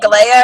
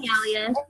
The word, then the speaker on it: Galia: Is it Galea or Galia? I always say it wrong. It's Galia. Galia.